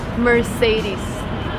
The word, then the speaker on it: Mercedes: my favorite car in the world it's called Mercedes remember Mert say this his mom Mercedes is